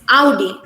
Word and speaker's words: Audi: was the biggest shock we pronounce this card brand as od but here the characterization is audi it's not audi it's audi this one the main people